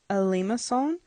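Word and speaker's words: limaçon: you remember from class this is pronounced of if I can write first as a Lima song I'm not great at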